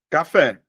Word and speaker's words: café: Professor, a última, se você olhar, ó, café. A sílaba mais forte, ó, 2. A sílaba mais forte está em 2. Por este motivo, eu vou dizer que ela é uma palavra oxítona.